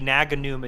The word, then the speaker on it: Naganuma: lot of hi hii naganuma jams uh which that's perfect perfect pronunciation I've studied Japanese for years um and playing aror